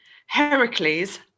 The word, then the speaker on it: Heracles: them okay so apart from the 12 labors heracles i said it right this time nice job